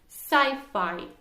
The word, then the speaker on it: sci-fi: shortened form of a science fiction that is pronounced as sci-fi okay so will you repeat sci-fi sci-fi cy5